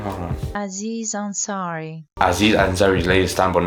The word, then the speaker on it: Aziz Ansari: Aziz Ansari.